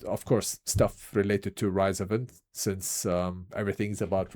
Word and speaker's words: RISOVENT: people they I mean I always say rise event, rise. Some people pronounce it as rzvent.